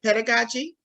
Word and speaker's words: pedagogy: um is it am I saying it right pedagogy yeah classical technique okay so talk to us